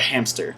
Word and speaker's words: hamster: is the word hamster now when you say hamster there's a pee in there why is there p in their way it's spelled h am a JMS ter hamster but it's not a ham stir it's hamster why do we say that because it's physically easier for us as a hamster in